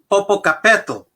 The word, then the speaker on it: Popocatépetl: And if I slaughter this, please forgive me, but I think it's pronounced Popocatépetl.